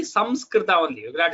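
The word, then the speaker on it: संस्कृत: But when we pronounce Samskrita, it has to be Samskrita only. You cannot say Shamskrita.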